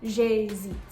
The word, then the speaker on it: j'hésite: Because there's a contraction, this is going to act as one syllable, j'hésite.